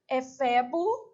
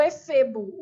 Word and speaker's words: efebo: Aqui, a pronúncia pode ser feita tanto efebo ou efebo. O dicionário, no caso, consultei apenas o Volpe, porque outro dicionário pode trazer outra coisa. Isso aqui é sem acento, tá? Eu só estou mostrando a pronúncia. Então, ele tem uma pronúncia oscilante. Então, ela pode ser feita fechada ou aberta, beleza?